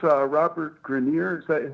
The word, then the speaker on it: Grenier: Well, also sort of, there's the, I guess it's Robert Grenier. Is that how you say his name? Yeah, Grenier.